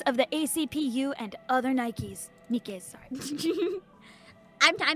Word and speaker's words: NIKKE: have been so good just added the extra K but still pronounced it Nike yeah like honestly like